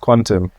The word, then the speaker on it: QNTM: of all it's it's spelled it's Q NTM pronounced Quantum yeah okay so what is what is quantum